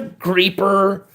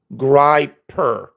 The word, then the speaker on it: Griper: I'm not called the. You know, you could pronounce my name 15 ways to Sunday. And it's still going to be Grier. G R I P E R.